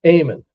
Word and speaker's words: Amon: Amon. It almost sounds like amen, but yeah.